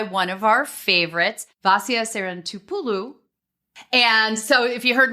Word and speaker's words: Sarantopoulou: we're joined by one of our favorites vasia San Tulu and so if you heard me pause there folks it's because I finally got the pronunciation right um and vasia has been with us before